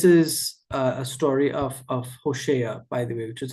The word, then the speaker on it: Hosea: Hosea. Hosa. I learned the pronunciation correctly.